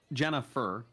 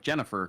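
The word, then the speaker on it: Jennafur: people yeah uh jennifer uh pronounced jenna fur and and she does prefer it if you use the first name and last name but you can't pronounce it like jennifer because that's not her name her name isn't jennifer it's jenna for so you got to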